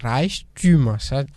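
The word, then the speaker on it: Reichtümer: Maintenant vous mettez umlaut ou bien tréma sur le U et puis vous ajoutez ER au M, ça devient Reichtum. Ça s'écrit R majuscule E I C H T U tréma M E R.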